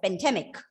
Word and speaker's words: pandemic: And you have to pronounce this word as pandemic. Okay, it's not pandemic, pandemic. Of course, if you reduce the vowel sound to schwa, the stress will be obviously on the second syllable.